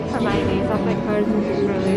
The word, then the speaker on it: Hermione: Everyone was pronouncing Hermione wrong, and she had to figure out a way of how to spell it out in the book so people would know. So he added that scene of her going, no, it's Hermione. Would know how to say it.